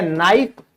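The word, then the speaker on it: knife: तो हमेशा क्या होगा के हमेशा साइलेंट होगा जैसे नो जैसे नॉलेज तो याद रखिएगा और आप इसमें देख सकते हैं ना ठीक है या आप कह सकते हैं नाइफ तो हमेशा जो है उच्चारण में के नहीं बोला जाएगा अगर के के बाद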